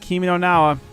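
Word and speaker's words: Kimi no Na wa: Kimi no Nawa. I got the right Shinane.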